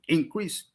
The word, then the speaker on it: increase: Noun version, stress on the first syllable. Verb version, stress on the second syllable. Increase and increase.